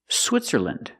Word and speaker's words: Switzerland: Finland, Poland, Switzerland.